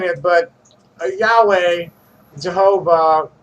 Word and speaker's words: Jehovah: saying it, but Yahweh, Jehovah, the priest pronunciation of it is Yehovah, and Shekinah were superhuman